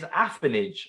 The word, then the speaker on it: affinage: Number 4, the term associated with the craft of maturing and aging cheese is affinage, I believe. I hope I pronounced that right.